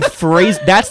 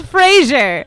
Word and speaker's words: Frasier: Why are you saying Fraser? I felt my brain crack a new No, crack. it's Frasier.